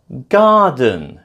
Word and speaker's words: garden: Garden is stressed on the first syllable.